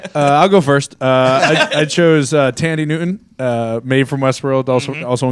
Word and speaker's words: Thandie: I chose Thandie Newton, who is It's actually Maeve. pronounced Tandy, but thank you. I chose. I'll go first. I chose Thandie Newton, Maeve from Westworld, also in Crash.